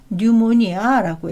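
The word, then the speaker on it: pneumonia: 뭐 이런 것들도 있고요 또이 피도 이게 이제 뉴모니아거든요 폐렴인데 뉴모니아라고 소리내서 그냥 소리 나는 대로 하면은요 피가 빠지고 요렇게 되는 거잖아요 근데 어쩔 수 없이 발음 규칙은 뉴모니아라고 해서 피가 묵음이 됩니다 그래서 이런 발음 규칙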